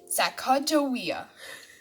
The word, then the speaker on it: Sacagawea: fancy name sacagawea you say it like this sacagawea later miss glass has thrilling news thrilling is